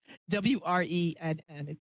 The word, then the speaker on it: Wrenn: Wren, like the bird. Or I used to say like Ren and Stimpy, but that's old. WRENN. It's English W, but the W is silent.